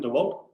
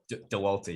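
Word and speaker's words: Dauwalter: How do you pronounce her surname? Dewalt? Dewalter, yeah.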